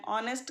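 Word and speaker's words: honest: आई एम एन ऑनेस्ट girl. अब एन ऑनेस्ट इसलिए आया क्योंकि ऑनेस्ट में एच साइलेंट है और ओ एक वावल है।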